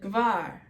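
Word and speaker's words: גבר: Now in Aramaic, this is just the sound of the letter itself, no vowel. And we have bat. So g, ver, gaver. So gaver to gvar, bat, gvar. You don't have to be so strict with it.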